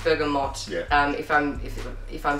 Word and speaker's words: bergamot: neroli neroli Bergamo Oh should I say what is the correct place I think it's bergamot because for a good in it it's from Italy so in Italian it's bergamot dog let's see so I would say it's bergamot it's just that since I keep since I was a kid I was saying it wrong through the French safer